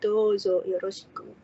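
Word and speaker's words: どうぞよろしく: Kalau ada seperti coretan di atas huruf itu artinya dibacanya panjang ya, seperti ini. Dozo yoroshiku. Di bahasa Jepangnya sendiri tulisannya ini adalah huruf do ditambah huruf u. Jadi dibacanya panjang, dozo yoroshiku.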